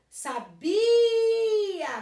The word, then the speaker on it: sabia: Então, ó, sabia, que é do verbo saber, o bi é mais forte. Ele não é a última, é a penúltima, paroxítona. Sábia, sábia, o biá fica junto, a última sílaba.